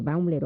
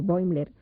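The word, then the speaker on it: Bäumler: entender por qué Baumler, se puede pronunciar Baumler o Boimler, un intelectual nazi, y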